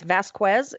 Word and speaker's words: Vazquez: yeah yeah it's it's it's the puerto rican pronunciation and spelling it's Vasquez and it's VA zqu